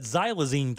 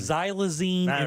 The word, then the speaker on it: xylazine: i n e wait zyla Zen Z just like magazine oh I totally spelled